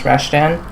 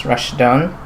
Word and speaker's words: Rashan: demand later on um my name is rashan or if you're familiar with the Arabic pronunciation it is Rashon um and as you